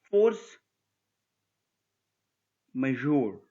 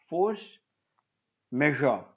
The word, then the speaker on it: force majeure: We have got one more, force majeure, or another pronunciation is force measure. So it's not an Indian word actually, or an English word.